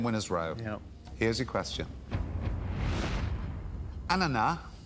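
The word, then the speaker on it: ananas: Ana, as in the French pronunciation. Yeah. Is a French name for which fruit? Yeah. Ana is a French name for which fruit?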